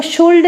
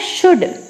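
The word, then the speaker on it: should: इसका यूज करते हैं इसको शोल्ड नहीं पढ़ना है क्या पढ़ना है शुड शुड नैक देखिए फ्यूल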